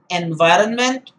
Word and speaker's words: environment: i pronounce this word environment that is much better rather than say environment it's environment that n is not silent there it's better you say